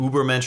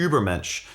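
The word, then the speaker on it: Übermensch: whole concept of an Uber MCH or Uber mench to pronounce it uh correctly is essentially someone who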